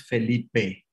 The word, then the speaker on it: Philippa: And my name is pronounced Felipe. Is a Spanish version of Philip.